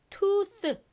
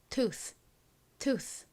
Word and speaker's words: tooth: 그래서 투스 이렇게 발음하기보다 투스 이렇게 거의 스에 가까운 바람 바지는 소리가 납니다.